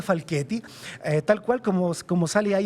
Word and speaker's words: Falchetti: En Facebook, Giovanni, se escribe Falchetti, Giovanni Falchetti, pero se pronuncia Falchetti.